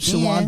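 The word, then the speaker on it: Shawon: Shawan Dunston is how you pronounce it. Can't spell Can or someone read. look it up, please? I guarantee you. Nope. Whatever. Sean Dunston was dope.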